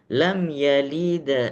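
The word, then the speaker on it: لم يلد: Jadi kalau dibacakan lam yalid walam yulad. Lam yalid, bukan lam yalid. Kalau de, kalau sudah keluar de, maka sudah jadi qalqalah kubro. Maka bacanya lam yalid, seakan-akan hampir dia berharokat fathah.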